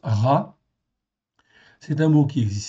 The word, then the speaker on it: רע: OK, donc là nous avons un rche ain, ça se prononce ra.